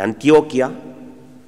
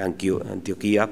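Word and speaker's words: Antioquia: Es el gran conquistador de la zona de Antioquía, que es como se pronuncia, diré Antioquía, pero es Antioquía, y de las zonas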